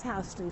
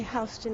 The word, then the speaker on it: Houston: through so this is houston street and we say houston not houston even though it's spelled the same and it's one of